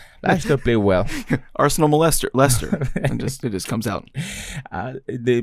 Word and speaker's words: Leicester: Arsenal, Leicester City, or is it Leicester? Whatever you pronounce it. Like molester. Yeah, dang. Without the mole.